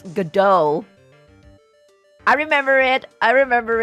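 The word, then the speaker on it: Godot: right oh sorry someone someone told me I should pronounce um his name as gdo I remember it I remember it Gau very very sassy very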